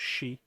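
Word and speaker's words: 四: Japanese sounds like death number four in Japanese pronounced she sounds like the Japanese word to death so it's a long-standing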